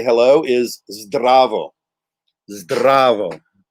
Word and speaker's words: zdravo: So the standard, easy, typical way to say hello is zdravo. Zdravo. There's that trilled R and a combination of 3 consonants right at the start.